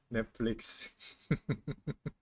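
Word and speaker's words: 넷플릭스: Netflix. Yeah, that's how we pronounce it. Netflix. Netflix. Because Korean writing is by syllables, right? So it's Netflix. 4 syllables in Korean.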